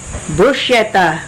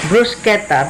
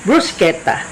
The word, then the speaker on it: bruschetta: am going to make brushetta brushetta they call it in English but in Italian the proper pronunciation is brusketa because CH is C it must be pronounced as K so brusketa this uh dish is